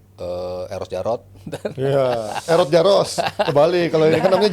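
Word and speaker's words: Jaroš: Iya, bacanya Jaros. Jaros, ya.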